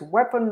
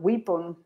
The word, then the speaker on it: weapon: Remember, it's weapon, not weapon.